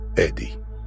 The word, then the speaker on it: Eddie: me adi for short in english the name is pronounced eddie so please call me